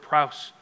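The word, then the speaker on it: praus: the meek the prowess phonetically spell it's p-r-a-u-s p-r-a-u-s the meat that word prowse essentially it's to be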